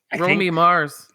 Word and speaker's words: Romy Mars: about uh Y is it Romy is it pronounced Romy Copa Romy Mars yeah Romy Mars yeah Ry copala mors yes